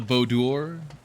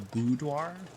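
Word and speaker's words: boudoir: Not the bodour or the bodoir. It's the budoir.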